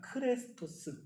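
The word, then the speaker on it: χρηστός: 사람을 입은 그리스도인이라고 했을 크리스토스와 그 억양이나 그 발음이 너무나 비슷하다고 합니다. 크레스토스. 그래서 초대교회 사람들은 이 친절함이라는 덕목을 그리스도인이 정말로 중요하게 간직해야 하는 덕목으로 알았다라고 합니다. 그리스도인이라면 당연히 크레스토스 해야 한다라고 생각했던 거예요.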